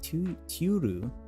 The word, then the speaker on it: Turu: Turu, how do you pronounce his name? Turu, like tuna, Turu, had to run to the booths.